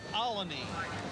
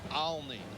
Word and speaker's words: Olney: old stomping grounds yeah some say colony follow me if you're a native Philadelphia's a lot of I guess the real pronounced ER is Olney the men of Killarney